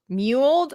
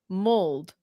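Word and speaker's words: mulled: It's not pronounced muled. I I've always pronounced it muled." No, it's mold. Mold one.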